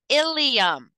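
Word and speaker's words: ileum: very confusing at times ilium and ilum these are pronounced the same i l IU M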